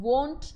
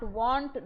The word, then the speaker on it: wont: I am wont to getting up early. Remember, not want, not will not.